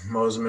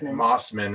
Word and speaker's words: Mossman: Some big ones are just like Mr. Mosman over here, Mossman, right? Mr. Mossman. As written.